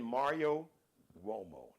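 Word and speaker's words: Uomo: little search magnifying glass icon just type in Mario wo now wo is an atalian name so it's pronounced wo sound like a w but wo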